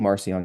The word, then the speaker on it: Marcion: note that uh Mar we're saying marcion because that's how you say it in English but in the languages they would speak at the time it would have been Maron and then which means little Mark little Mark and Mark is